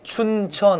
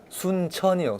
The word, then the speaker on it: 순천: 저희 남쪽 저기 이거 발음을 잘 들으셔야 되는데 네. 춘천 아니고요. 네. 순창 아니고 네. 순천이요.